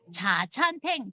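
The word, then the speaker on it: 茶餐廳: 자, 차찬탱은 뭐냐면 자찬탱. 자, 발음은 자찬탱입니다.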